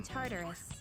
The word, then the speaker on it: Tartarus: start checking out that Tower Oh you mean Tartarus tartar sauce what not that hard to pronounce tardus it's a place that holds the key to